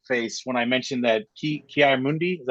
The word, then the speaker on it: Ki-Adi-Mundi: Although Kyle gave me a eyes up face when I mentioned that Ki-Adi-Mundi, is that how you say his name?